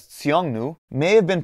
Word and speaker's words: Xiongnu: form of the name now pronounced as tseongnu may have been pronounced